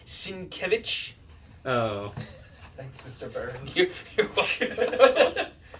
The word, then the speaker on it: Sienkiewicz: I believe it's pronounced Sienkiewicz.